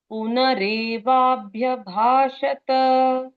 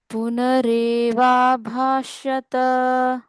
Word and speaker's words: पुनरेवाभ्यभाषत: पुनरेवाभ्यभाषत, पुनरेवाभाष्यत। पुनरेवाभ्यभाषत। भ्य रहना है ना।